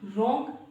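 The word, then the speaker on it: wrong: generally ऐसा होता है डब्लू के बाद आर दिखे वहां पर जो डब्लू है वो साइलेंट होता है फॉर एग्जांपल रॉन्ग यानी कि गलत फॉर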